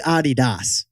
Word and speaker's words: Adidas: How's it really pronounced, Jack? It's really Adidas, named after Adi Dassler.